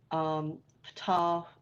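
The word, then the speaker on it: Ptah: on moon and raw Fatah and I'm pronouncing it that way so you know it starts with P tah so you can see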